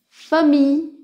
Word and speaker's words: famille: Allemagne, famille, fille, bouteille. Observez que le L, les deux L là, ne sont pas prononcés. C'est comme un I long.